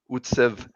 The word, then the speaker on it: Utsav: connection and and a guest so hey welcome utz uh did i pronounce that right amazing david you did it